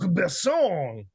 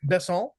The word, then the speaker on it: Besson: The films of Luc Besson. I'm assuming I'm gonna put the accent on the second syllable.